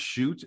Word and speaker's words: Schutt: sorry man I apologize shoot it will be shoot from now on and that's gonna be easy to remember because the Dude is a great shooter hey don't don't beat